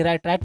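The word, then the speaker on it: write: ए रहा है देखिएगा व के बाद ए रहा है तो व हो गया क्या साइलेंट तो व साइलेंट हो तो बचा क्या आर आई टी राइट में लिखना नेक्स्ट आपका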